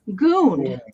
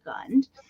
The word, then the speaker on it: Gund: so little tiger is made by Gund g-u-n-d wait you're gonna say it like Michael does goon yeah there is a remnant of the tag that would have been attached here but he is gunned and um so tiger